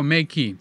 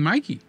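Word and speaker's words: Meike: Yes, 51.8 from, how do you say it, Makey? Oh, Makey. Yeah, I wrote to them because I keep saying Mikey.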